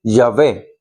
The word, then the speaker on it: Yahvé: Pero Yahweh tampoco está escrito en los originales porque es Yahvé o Shefe o Yodi